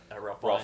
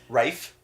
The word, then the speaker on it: Ralph: at a cafe table with Ralph Fiennes. Rafe Fiennes. Fiennes. Oh, of course. I always say it wrong.